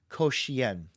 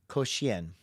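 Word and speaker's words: 口弦: Because I was like, this is the koshian, but it's koshian. And to say that, you say it like you say the word Dalmatian, koshian.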